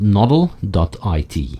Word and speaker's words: nodl.it: by running your own novel node available at noddle.it and that's spelled nodl.it finally coldcard my hardware wallet of